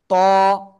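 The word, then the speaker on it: ط: এটা ওই একই জায়গায়, জিব্বার আগা ওই উপরে দুই দাঁতের গোড়ায় লাগান লাগান লাগান লাগান, লাগিয়ে একটু মোটা আওয়াজে একালিপটা নিয়ে উচ্চারণ করতে হবে। ত, ত, ত।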